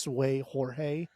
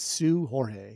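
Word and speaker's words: Seu Jorge: week I think it's Sue Jorge is it Sue I don't think the seu is pronounced sway I think that's actually pronounced Sue okay all right from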